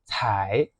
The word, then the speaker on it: 彩: And cai, the second character is a bit interesting because usually it's pronounced as cai, third tone, which means like colorful.